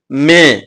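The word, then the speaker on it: में: இந்த இடத்துல வர்ற இலுக்கு மே இந்த வார்த்தையை பயன்படுத்தனுங்க. இது ஏப்ரலுக்கு அப்புறம் வர்ற மே இந்த உச்சரிப்பு கொடுத்தா போதும். நான் சொல்ற மே மாடு கத்துற மாதிரி மே அப்படின்னு சொல்லணும்.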